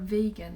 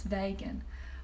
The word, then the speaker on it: vegan: even know what the how to pronounce the word vegan they think it's vagan what's a vagan where